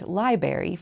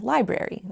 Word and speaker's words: library: My silly sentence included three questionable pronunciations, mis-ˈchē-vē-əs instead of mis-chə-vəs, nyü-kyə-lər instead ofˈnü-klē-ər, and lī-ˌber-ē for ˈlī-ˌbrer-ē, all of which are in our dictionaries.